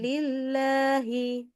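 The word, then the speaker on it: لِلَّهِ: enggak ada tanda panjangnya tapi nama Allah pokoknya bacanya panjang perjanjiannya gitu ya jadi lillahi Oke lanya dibaca panjang wahua enggak panjang kita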